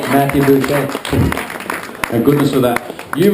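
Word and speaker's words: Busche: You got it right, Matthew Boucher.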